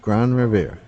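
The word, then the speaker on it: Grande Rivière: you have just reached gran revere or grand river depending on what you pronounce it means great river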